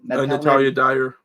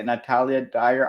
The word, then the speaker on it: Natalia Dyer: Natalia Dyer. Yeah, Natalia Dyer.